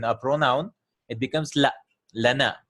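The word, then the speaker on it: لنا: pronoun, it becomes la, lana. It's actually lina, but because the Arabs had a difficulty pronouncing lina and lina, they changed it to lana.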